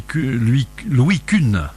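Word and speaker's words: Kuhne: Je sais que ça n'a pas tellement de rapport, mais ce monsieur Louis Kuhn. Oui, je pense que ça se prononce comme ça s'écrit K-U-H-N-E.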